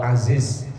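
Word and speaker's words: عزيز: dia Allah Perkasa itu kalau Aziz bacanya pakai zaf kalau pakai Cara pakainya gym artinya berubah loh najis Azis itu artinya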